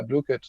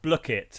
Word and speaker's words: Blooket: questions but definitely uh blue cut um am i pronouncing that correctly joe even uh yeah well apparently it's a block it as in like but like book block it not blue well i i think